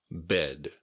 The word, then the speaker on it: bed: Bed. Be sure to pronounce the D at the end.